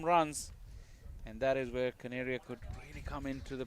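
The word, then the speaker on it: Kaneria: It's Desh Caneria. Canary. Like a canary. Like a bird.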